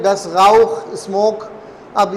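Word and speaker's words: Rauch: अच्छा आर का मैं प्रोनाउंसिएशन बता दूँ, आर का प्रोनाउंसिएशन एक्चुअल जो जर्मन है, जो कि पैदाइशी जर्मन है, वो आर को गैन की आवाज़ निकालते हैं, जो हमारे उर्दू में ही है सिर्फ गैन, गाउख, गाउखन, ठीक है ना, गाइजेन, गाइश।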